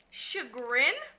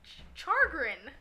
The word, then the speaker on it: chagrin: No, it's pronounced chagrin. Chagrin? Look, hold on. Y'all about to be the witness. Where my phone? Chagrin? Hold on. Don't wanna grin. Chargrin. Chargrin. Chagrin. Chagrin. Char. There's no R before the G, woman.